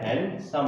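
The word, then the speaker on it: handsome: इसका प्रोनाउंसिएशन क्या बनेगा, हैंडसम। हैंडसम नहीं है, ये क्या है, हैंडसम प्रोनाउंसिएशन बनता है।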